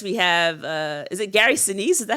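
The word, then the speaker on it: Gary Sinise: And then um of course we have uh is it Gary Senise? Is that how you pronounce it? Yep. Gary Senise.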